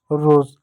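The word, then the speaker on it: rose: एक और शब्द है आर ओ एस ई आर को र पढ़ेंगे ओ को ओ की मात्रा पढ़ेंगे एस का ज पढ़ेंगे ज रोज एस को स भी पढ़ते हैं और ज भी पढ़ते हैं।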